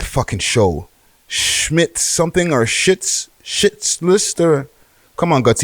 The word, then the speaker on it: Schitt's Creek: Shit. Thank you. Fakest rapper out. Schitt's Creek. Okay. And it's spelled SCHITZ, right? So shit's like the last name.